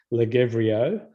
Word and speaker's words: Lagevrio: The first drug is molnupiravir, otherwise known as Lagevrio, which sounds like Lothario, but anyway, there it is.